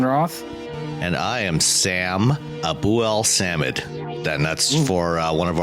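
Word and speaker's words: Abuelsamid: So you break it up to Abu El Samid. Right, just kind of phonetically.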